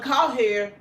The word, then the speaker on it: Cowherd: And we're happy doing well because Colin Cowherd, is that how you say his name?